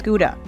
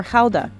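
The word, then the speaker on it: Gouda: a year more than half of it is guda or Hala as it's pronounced here Fran ctin is a Seventh Generation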